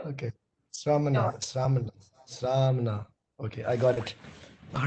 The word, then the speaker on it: Sramana: So I have one small question, Rana, is that yes. What do you generally think about? Sonal, you have to learn to pronounce my name. It's Romana. Sarmana. Yes, there we go. Okay. Sramana.